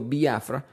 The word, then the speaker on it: Biafra: y por si acaso se escribe biafra no tiene acento en la i estoy diciendo biafra porque en el inglés especialmente en Nigeria se pronuncia de esa manera y estoy tratando de